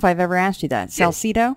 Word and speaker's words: Salsido: is, and it's Salsido. Am I saying that right? By the way, I don't know if I've ever asked you that. Salsido, yeah. That's exactly right. You have it just right, yeah.